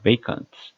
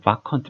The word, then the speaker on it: vacant: 그래서 vacant 이 발음도 주의하셔야 됩니다. 그냥 vacant 뭐 이렇게 읽으시면 안 되고 vacant.